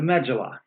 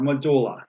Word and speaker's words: medulla: and the inside part which is called the medulla or medulla whichever one you prefer a part of pronounced both ways so if we looked